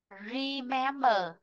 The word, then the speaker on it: remember: Remember, remember. Re này, mém này, bơ này. Huyên ngã nguyên, huyên ngã nguyên, remember, huyên ngã nguyên. Vì vậy trọng âm sẽ rơi vị trí thứ hai, mềm.